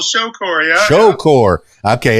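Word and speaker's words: Shocore: Shore yeah Shore okay it's spelled s h o c o r e I could have gone either way on that one I know there's no e so Shore there's no W either but that's fine accelerated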